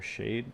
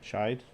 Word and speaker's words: shide: Is that how you pronounce that? Shide or shade? Shide.